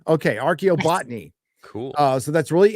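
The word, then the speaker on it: archaeobotany: college for uh how do you say that arob botney okay archo botney cool uh so that's really interesting that I'm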